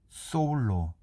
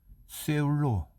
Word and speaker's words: 서울: 다음에는 발음이 되지 않아 실제 발음은 소울로 입을 크게 벌리고 오를 발음한다. 언뜻 들으면 거의 사울로 들리는 것 같다. 그러나 어떻게 해서 조선인들은 모두 쇠울로 심지어 프랑스인들이 쓰는 것처럼 아프의 음절을 강조하여 세울로 발음하는지 이해할 수 없다.